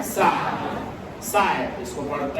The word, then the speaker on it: psi: साय। साय, इसको पढ़ते हैं साय। साय देखो, क्लियर है? जर्मन लैंग्वेज में PSI, P साइलेंट रहता है।